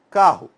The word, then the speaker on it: carro: Quando eu falo carro, ó, a sílaba tônica é A, né, o K, e daí a tendência é soar com essa ideia de U, mas é com O, é uma semivogal nesse caso.